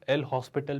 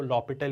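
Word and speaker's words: L'Hôpital: बात करूँ, है ना, इसे कुछ लोग एल हॉस्पिटल भी कहते हैं। ये एक फ्रेंच वर्ड है जहाँ पर हॉस्पिटल जैसा तो कोई वर्ड नहीं आता है, वो लॉपिटल ही है, एच वहाँ साइलेंट है ना।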